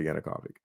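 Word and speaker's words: Yanukovych: I always mispronounced this guy's name, but yeah, that's it. Victor Yanukavic.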